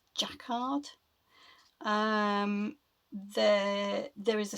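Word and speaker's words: Jacquard: Now these are made by a company I think it's pronounced Jackard.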